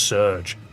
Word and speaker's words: SRJ: The SRJ is pronounced Surge.